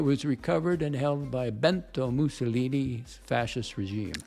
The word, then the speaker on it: Benito: It was recovered and held by Benito Mussolini's fascist regime. Benito. But what did I say? Bento. Bento's a Japanese snack tray, Benito.